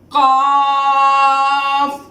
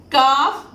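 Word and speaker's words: قاف: When we produce Qaaf, we will produce like lengthening voice, but not with a thick voice as we pronounced Qaaf. We produce as Qaaf because this word is not in Harufe Musta'aliya.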